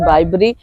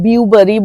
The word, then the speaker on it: Bibury: জায়গাটার নাম হচ্ছে বাইবেরি এবং আমি বহুদিন এটার ভুল উচ্চারণ করতাম বিউবারি বলতাম বি ইউ বলে উচ্চারণ তো উচ্চারণ তো অত আর আমরা ইংরেজি ইংরেজি মিডিয়ামে তো আমি পড়ি তাই এত উচ্চারণ জানিনা তো আমার মেয়ে 1000 বার ভীষণ রেগে গেছে যে কেন মা তুমি এই ভুল উচ্চারণটা করো ইট ইজ বাই এটা বিউবারি না এটা হচ্ছে বাইবেরি তো এখনো বলতে গিয়ে